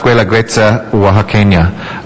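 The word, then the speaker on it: Guelaguetza Oaxaqueña: It's pronounced Guela Guetza Oaxaqueña.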